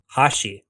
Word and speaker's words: hashi: And bridge is hashi. Hashi is spelled Hashi.